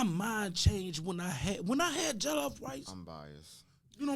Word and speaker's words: jollof: I think I got the best jollof rice.